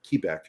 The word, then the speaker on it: Quebec: mike November Oscar papa Quebec or as we pronounce it in the military kebec Rome Romeo Sierra Tango